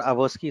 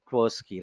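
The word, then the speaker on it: Tversky: So like, not अवर्स्की, it's actually ट्वर्स्की, right, I गॉट the spelling wrong, ट्वर्स्की, right.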